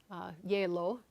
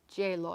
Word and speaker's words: Gjeilo: His name is Ola Gjeilo. Gjeilo, I think. Gjeilo. I think it's silent.